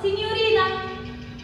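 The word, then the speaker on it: signorina: لو جه بعد الجي حرف الام او جه بعد الجي حرف ال وراها اي، ما الجي هنا اسمها موطة، موطة يعني سايلنت ما بتتنطقش، فبتبقى نطقها ني ني ني اكيد بخنف فيها سنه كده ني ني. زي لما اجي اقول سينيوري،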